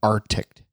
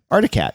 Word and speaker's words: Arctic: It has to be Arctic.